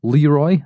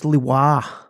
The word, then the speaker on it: Leuba: It looked like Leroy, as in Leroy Jenkins, but no, it's not pronounced that way at all, Dave. How do you pronounce it? Because you're the man who knows how to say things. I believe it's Leuba is how it's described, but it's not Leroy Jenkins, as you said.